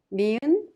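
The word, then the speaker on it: 니은: Niun is similar to the English N sound.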